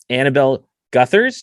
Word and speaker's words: Annabel Gutherz: Annabel Gutherz.